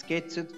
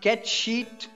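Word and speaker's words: Cait Sith: It's Ketsit from... Oh no, I recall Puzzle telling me how to pronounce that. It's Ketcheat from FF7.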